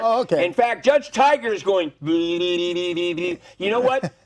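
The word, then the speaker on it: Tigar: I'm not sure how to pronounce it, but No, it's Tiger.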